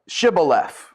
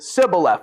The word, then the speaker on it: Shibboleth: They have this word of the Shibboleth. And whatever the dialect between the people in the areas, it's pronounced differently, and it's a dead giveaway for somebody to pronounce it Sibboleth without the H.